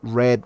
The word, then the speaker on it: read: sets & kate goldwing read red red sólo cambia la pronunciación acá tenemos algunos que